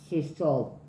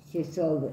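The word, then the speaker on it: Yesod: tarot no eh está asociada como cefira llamada jes se escribe y e s o d El árbol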